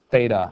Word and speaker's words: theta: a Greek letter it's called theta it's not feta cheese it's not beta its theta and I'll spell it